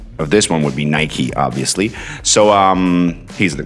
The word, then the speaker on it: Nike: By the way, the correct pronunciation of this one would be Nike, obviously.